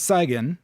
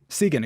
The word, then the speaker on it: Segan: So your dog is named Saigon. I believe, is that pronounced right? Segan, excuse me.